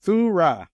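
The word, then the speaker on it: θύρα: It's pronounced Thurah, different language, different witness, right?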